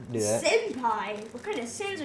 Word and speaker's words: senpai: How did Senpil. That sounds like something Hitler would say. Okay, let's not do that. Senpai.